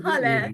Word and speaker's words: Halle: Yes, it's Halle. So it's pronounced like hallelujah.